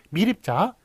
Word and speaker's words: 미립자: 그렇지만 다 사람들이 미입자라고 발음하는 게 아니라 미립자, 예, 그 다음에 소립자, 수유탄이 아니라 수류탄, 그